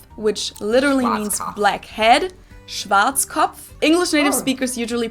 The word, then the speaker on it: Schwarzkopf: over the world pretty much in German we pronounce it Schwarzkopf which literally means blackhead Schwarzkopf English native speakers usually pronounce it Schwarzkopf or Schwarzkopf or something along those lines Deutsche Bank is